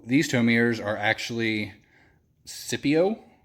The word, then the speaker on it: Syppo: So these tow mirrors are actually Syppo, is how I would pronounce it, I guess.